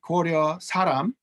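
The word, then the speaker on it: Koryo-saram: saram or korea um so it depends on whether you're wanting to pronounce this in standard korean or whether you're wanting to pronounce it in some version of koryoma so standard would be koryo saram but if you work with native speakers of varieties of soviet korean um what they pronounce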